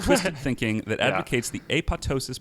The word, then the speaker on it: apoptosis: in front of you the word apoptosis is most definitely pronounced with two audible peas and thank you Lewis